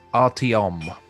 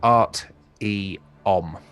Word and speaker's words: Artiom: It's pronounced Artiom. Artium. So Art-E-Om.